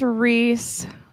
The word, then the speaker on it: Reese: It's supposed to be Ryzen? What did I say? It's Reese. I just don't like to say it like that. Yeah, it's Reese and I just don't like it.